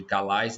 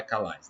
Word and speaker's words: Calais: Igual cidade de Calais não é Calais, né? Calais, né?